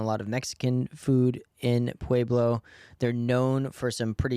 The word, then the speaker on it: Pueblo: did a city called I'm gonna mispronounce it because everyone was telling me I did mispronounce it there way below Colorado Pueblo Colorado I think you nailed it wait it's on the